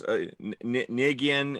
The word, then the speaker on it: Negreanu: Like Phil Hellmuth and yeah, all those Nigian, how do you say his name? Daniel Negreanu.